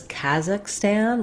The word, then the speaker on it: Kazakhstan: I also saw um it depicted as kazak Stan with an A black cat vowel in both places I would avoid you